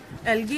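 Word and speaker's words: algae: क्या कहते हैं एलगी एलगी is pronounced as एलगी the singular number of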